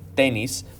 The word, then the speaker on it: tenis: So tenis is pronounced a little bit differently, tenis, but it means tennis.